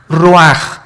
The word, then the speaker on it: ruach: El roj que se escribe r u a c h. Ruach en el hebreo y se pronuncia igual roj.